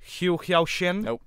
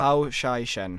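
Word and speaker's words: Hou Hsiao-hsien: Hou-Hsiao-Hsien? Nope. I butchered that. Hou-Hsiao-Hsien. Hou-Hsiao-Hsien, yeah.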